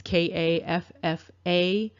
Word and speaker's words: Kaffa: And this apparently comes from an ancient kingdom known as Kaffa. I'm not sure if I'm pronouncing that right. It almost reminds me of Kafir. It's Kaffa.